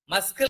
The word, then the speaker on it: muscle: And the next sound is muscle and muzzle. Please repeat after me. Muzzle. MUSCLE. Muzzle. Which one is silent letter, children, here?